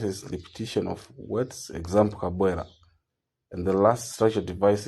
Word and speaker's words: Kabwela: The sound starts with strong syllable Kabwela.